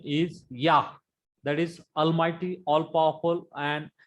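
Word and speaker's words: יָהּ: Yah. Very proper pronunciation is Yah because there is Makip in He.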